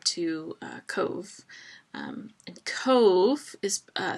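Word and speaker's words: Cobh: uh Cove um and Cove is uh spelled c o BH but it's pronounced like like Cove cve e um it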